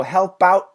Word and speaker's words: help out: It's a stop sound, okay? So help out, stop it right at the T.